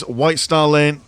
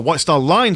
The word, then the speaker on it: White Star Line: march on forward as White Star Lane or White Star Line sorry been mispronouncing that this entire game is